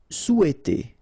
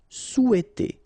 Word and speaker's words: souhaiter: Souhaiter. So remember, in French we don't pronounce this H, okay? It doesn't phonetically exist here, so you've got sou, after that you've got e, and then t. Souhaiter. Souhaiter.